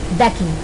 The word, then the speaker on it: Mbeki: और दूसरे के अकॉर्डिंग देखा जाए तो फर्स्ट पे कौन था वो बेकी, यहाँ पे एम साइलेंट है, था वो बेकी, उन्होंने भी क्या किया, जो हमारे फर्स्ट डिप्यूटी प्रेसिडेंट थे उन्होंने भी शपथ ली।